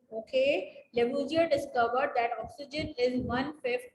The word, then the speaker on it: Lavoisier: How do we pronounce it? Lavoisier. Lavoisier. Okay. Lavoisier discovered that oxygen is 1/5 of air.